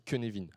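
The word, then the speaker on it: Cynefin: Ce deuxième modèle, c'est le framework Kunevin. Pour la véotypis, ça s'écrit et ça se dit que Nevin.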